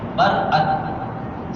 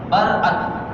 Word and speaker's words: برأت: برات یہ لفظ ہے, حقیقت میں یہ لفظ ہے برأت, صحیح لفظ ہے برأت.